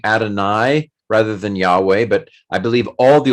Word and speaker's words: Yahweh: But the fact that Isaiah would have said Yahweh, it is Yahweh.